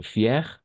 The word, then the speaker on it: fier: Por eso, fier, aquí están para los dos. Arriba está para una mujer y abajo es para un hombre. Fier, fier, pero vamos a pronunciar igual. Atención porque la escritura es diferente, ¿no?